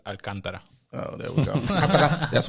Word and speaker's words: Alcantara: For Americans, Alcantara. For Dominicans, Alcantara.